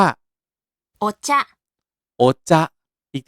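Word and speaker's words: お茶: ชา เลย ชา ชา ภาษา ญี่ปุ่น ออก เสียง ว่า โอชะ โอ๊ จะ๊ อีก ที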